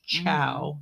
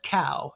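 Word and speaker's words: Cao: eating ciao um and I've also heard of plenty of other people and I think these are the ones that like to tease it the most uh call it cow as in the animal cow that's a big difference especially when one of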